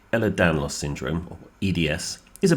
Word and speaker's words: Ehlers-Danlos: We have Sarah Hamilton, who is the Information and Advice Manager at the, I'm going to say it right, Ehlers-Danlos Support UK charity.